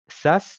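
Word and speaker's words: SaaS: entreprises innovantes vous avez des business model dit SAS donc ça veut dire Software as a service ça s'écrit s AAS S et en fait c'est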